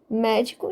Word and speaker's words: médico: Reparem, médico, de trás para frente, eu tenho a última sílaba com o co, a penúltima sílaba o dio e a antepenúltima sílaba o mé. E é o mé que eu enfatizo, médico. A sílaba mais forte é o mé.